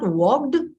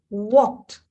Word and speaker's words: walked: add Ed to it so we we don't pronounce it as walked it is not worked it's walked the dictionary also shows the pronunciation this is